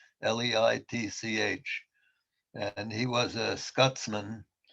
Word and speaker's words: Leitch: His real name, I mean, his full name is Donovan, I think Leitch it's pronounced, Leitch.